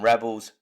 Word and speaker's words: rebel: next one Rebel from Rebels Roost you got to be careful with the word rebel because the verb is pronounced different to the noun okay to Rebel is